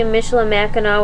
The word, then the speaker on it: Michilimackinac: 55 different spellings, but eventually Michilimackinac with a silent C at the end emerged as the favored form.